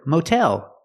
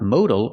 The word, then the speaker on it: motel: Also for the word motel, the same thing is happening. We're putting the stress on the second syllable, and that's why we keep the real T sound. Motel, not modal or modal, it's motel.